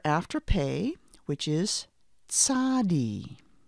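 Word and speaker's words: Tsadi: after pay which is Sadi it's pronounced like that TS sound T is the sound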